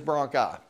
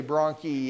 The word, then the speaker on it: bronchi: G1 singular is broncus plural is broni you may hear people say Brony I've I've never really I prefer broni because it helps me know how to spell it each broncus enters